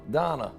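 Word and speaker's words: Danah: Thank you, Donna. Dana. No, Donna. D-A-N-A-H. Donna. Dana. Donna. Dana. It's not D-O-N-N-A-H. Dana. Donna. Dana. Like Donna. Like in a European accent.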